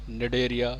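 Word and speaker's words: Cnidaria: ठीक है, phylum Porifera, निडेरिया, सी यहाँ पे साइलेंट है, प्लेटेलमेंथीज, Nematoda, Annelida, arthropoda, Mollusca, Echinodermata, Chordata.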